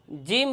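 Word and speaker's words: جيم: নোক্তা থাকে তাহলে তাকে জিম বলা হয়। আর জিমের মাকাম তথা স্থান উচ্চারণের জায়গা হচছে জিহ্বার মধ্যখান তার বরাবর উপরের তালুর সঙ্গে লাগাইয়া যে হরফটি উচ্চারণ হয় তাকে জিম বলা হয়।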